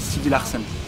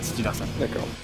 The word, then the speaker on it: Sidilarsen: Mais en fait dans la prononciation ça se dit Sidi Larsen. Donc ça a été écrit autrement pour qu'aujourd'hui ça colle et que ça se prononce Sidi Larsen.